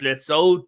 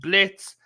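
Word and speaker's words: Blitzø: Luna, she hasn't been much in season 2, but in like she's the adopted daughter of Blitz, not Blitzo. The O is silent.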